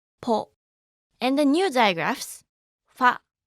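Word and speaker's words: ポ: Ho with a dakten is pronounced bo, ho, bo, ho, bo. And with a handakten, it will be po, ho, po, ho, po.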